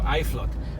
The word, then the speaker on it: Uitvlugt: I remember back in primary school, I really had a challenge spelling the word Iflot. It's spelled Uitvlugt for Iflot.